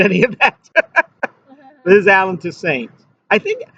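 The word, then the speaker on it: Toussaint: Liz Allen to Saints. I think I always thought his name was pronounced to like a like a French name, but evidently he he pronounced it to Saints.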